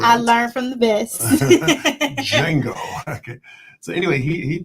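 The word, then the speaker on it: Django: The D is again the intellectual sagacious one says that the D is silent. I learned from the best Jango.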